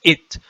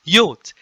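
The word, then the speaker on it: ⲓⲱⲧ: And I and T also in hieroglyphic, those who do not know Coptic, they pronounce it as it, but it is neither nor. It is just yot.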